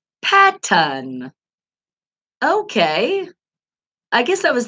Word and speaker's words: Patton: that one I'm not really sure and I pronounced it wrong Patton okay I guess I was thinking of Peyton he came to my brain with that I